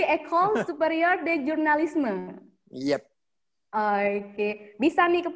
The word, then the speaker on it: École Supérieure de Journalisme: Kalau Prancis bukan jurnalisme. Seperti Indonesia gitu, seperti orang Banda Aceh gitu. Oh, berarti École Supérieure de Journalisme.